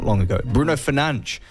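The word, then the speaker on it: Fernandes: it's a good signing Manchester United Captain Bruno Fernandez or as it is correctly meant to be pronounced Bruno fange that's how you meant to pronounce it Martin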